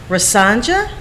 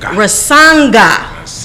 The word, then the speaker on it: Rasanga: So we have in the studio Governor Rasanja. Am I pronouncing? Rasanga.